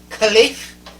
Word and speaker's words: Khelif: Amain, help me pronounce that, Khelif. Khelif.